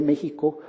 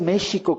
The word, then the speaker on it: México: ¿Por qué no es México, como se decía en el siglo XVI, como sherry, ¿no? Que es Xerez, ¿no? Esta bebida que se pronunciaba la X como SH. De ahí viene de que los españoles tradujeron en el siglo XVI la X como SH, que es como se pronuncia en náhuatl.